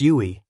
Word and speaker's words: UI: Tip: It's pronounced Yui.